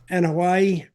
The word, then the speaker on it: Anoa'i: Anoa'i.